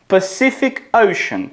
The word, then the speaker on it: Pacific Ocean: Чому ця назва читається так дивно? Pacific Ocean. Чуєте? Кожна сі читається по-різному.